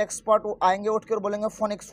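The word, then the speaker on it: Phoenix: आएंगे उठके और बोलेंगे फोनिक्स फोनिक्स वो पी एच जो है ना उसके बाद ओ है तो पी एच के बाद जो ओ है ना वो ओ साइलेंट है तो फोनिक्स फोनिक्स मत करिए फिनिक्स है उसका नाम तो ये जो है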